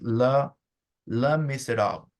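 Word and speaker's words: Les Misérables: I just know that the letter S at the end is not pronounced in French. So it starts with Le Miserable, something like that.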